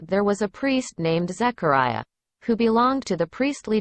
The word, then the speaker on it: Zechariah: 원음 발음에서는 Zechariah, 사가랴가 Zechariah라고 발음이 됩니다.